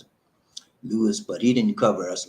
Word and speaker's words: Luis: It's called Luis, Luis, Luis. That's how they pronounce it, Luis.